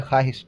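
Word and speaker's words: خواہش: जैसे हम लोग बोलते हैं, लिखाता है ख्वाहिश, पढ़ते हैं ख्वाहिश, ठीक है, वाव साइलेंट कर देते हैं, ठीक है, वो हो गया।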